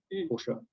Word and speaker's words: Porsche: And one of the clients who I've worked with now for more than 10 years is Porsche cars, Porsche, as it's pronounced in Germany.